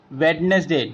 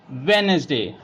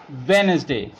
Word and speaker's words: Wednesday: it sandwich is a days name many people pronounce it very wrong wetness day no we do not pronounce pronounce it wetness day we pronounce it Wednesday Wednesday right budget grudge bridge so most often D